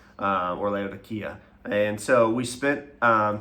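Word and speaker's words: Laodicea: Um and you may have heard it pronounced as Leodysia and but here they pronounce it Leodya or Leodia.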